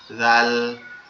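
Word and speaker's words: ذ: এই যে জালটা আছে এটা কেমনে উচ্চারিত হবে এটা আপনার জিহ্বার আগা সামনের দুইটা দাঁত দাঁতের আগার সঙ্গে লাগবে একবার আগার সঙ্গে হালকা করে নরম আওয়াজে জাল জাল জাল জাল এভাবে এরপরে হচ্ছে আপনার র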